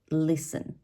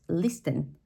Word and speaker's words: listen: in English for example we have the letter T that can be that can be silent like in the word listen all right often we Spanish speakers we're going to pronounce it as listen at the beginning right